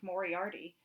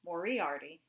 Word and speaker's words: Moriarty: the little town of moriarty accent on the eye excuse me it's mauriarty east of albuquerque on